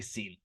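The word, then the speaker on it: שׂין: Now scholars put it as with a little chip on the top because historically it's probably pronounced as a sheen with most dialects. But modern Hebrew, we just say seen.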